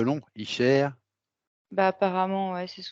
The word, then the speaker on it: Isher: C'est E en fait, c'est pas O. Icher. Icher. Elle fait ça. Ouais. Pourquoi c'est un E long, Icher?